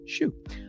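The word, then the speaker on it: Hsu: and I believe shoot somebody said shoe earlier that I was pronouncing it wrong I think that's the pronunciation according to uh I think it was her Instagram page it was someone's Instagram page that said it's pronounced shoe uh for everything ever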